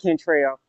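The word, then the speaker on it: Kentrel: all right my first my first name and my middle name kind of rhyme like my middle name is spelled k-e-n-t-r-e-l so it's Cantrell okay so where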